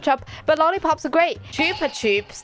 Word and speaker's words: Chupa Chups: Chupa Chups, that's how I know it's pronounced.